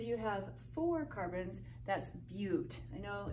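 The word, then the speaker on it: but-: have four carbons that's Butte you know it's like but it looks like the conjunction but we pronounce a few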